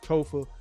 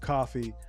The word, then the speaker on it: Kofa: I am your humble host, Kofa, K-O-F-A, not coffee, not, JC, not Kofi, or any variation thereof. Kofa rhymes with sofa.